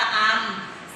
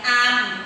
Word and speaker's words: อำ: ล่า ฆ่า นะ คะ รวม กัน เรียก ว่า สระ อำ สะอาด ออก เสียง อาร์ม นะ คะ ถ้า เด็ก